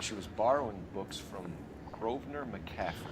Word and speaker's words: Grosvenor: And she was borrowing books from Grosvenor McCaffrey. That's not how I would have pronounced that word if I hadn't heard it first. It's like Grosvenor Square in the UK. I would have called it Grosvenor, like almost assuredly.